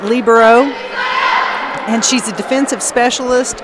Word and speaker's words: libero: Some people call it libero. I pronounce it libero.